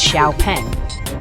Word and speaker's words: XPENG: Today we're talking about Xpens, pronounced as Xiaoen.